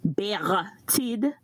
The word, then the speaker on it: Bertide: This is Bertide, and I'm going to pronounce my name like we do from the island. Bertide is the name, so that's the pronunciation.